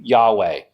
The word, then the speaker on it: Yahweh: So most scholars think that the pronunciation of the name of God should be Yahweh. Now that of course is what I actually think it's a better way to pronounce it. It's hard to pronounce something in ancient Hebrew if there's no J, is it?